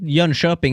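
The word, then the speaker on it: Jönköping: you Dreamhack summer 2017 young cupping did I say that good yeah you kind of did actually young shopping is how you say it but but you're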